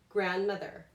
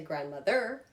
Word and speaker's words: grandmother: Grandmother. I don't say grandmother. I don't say grandmother. I say grandmother.